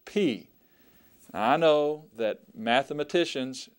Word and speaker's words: pi: be true but uh this is the letter Pi and that's how we're going to pronounce it pi and it makes the p p sound as in pin p p all right